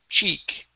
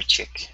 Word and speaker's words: cheek: from her from her chick from her chick okay give me e CH instead of chick CH okay okay so Sarah